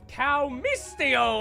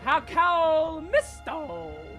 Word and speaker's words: Cow Misto: This first episode, we have Armed Robbery with Cow Mistio. How you doing, boss? I'm doing fine, but just still can't pronounce my name. Cow Misto. Yeah, that's better. Okay, great.